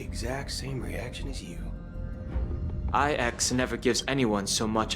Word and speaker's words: IX: So, it's pronounced as IX, not X.